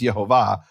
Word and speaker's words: Yehovah: Now, I'm not saying this proves Yehovah's name is Yehovah. That is the pronunciation.